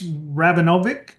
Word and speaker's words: Rabinovich: But Alex Rabinovic, was I close? Rabinovich. Rabinovic. I was pretty close.